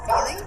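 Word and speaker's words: Fiely: My name is Feely. Last name is spelled F-I-E-L-Y.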